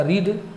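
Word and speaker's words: read: Third form जो है, spelling same होता है लेकिन हम उच्चारण करते हैं रीड, रेड, रेड, तो भाव थर्ड फॉर्म क्या हो गया, रेड। सो ही हैज़ रेड। ध्यान रखेंगे, इसको हम लोग यहाँ रेड पढ़ेंगे, ही हैज़ रेड, वह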